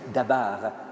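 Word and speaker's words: דבר: En hébreu, la parole se dit dabar.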